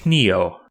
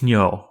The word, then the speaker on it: ni: syllables not death yah ni is kneel not know which is almost impossible